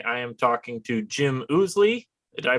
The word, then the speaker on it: Ousley: up front today i am talking to jim oozley did i pronounce that correctly you are actually one of